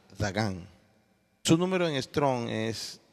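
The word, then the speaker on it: דָּגָן: Grano en hebreo se pronuncia Dagán.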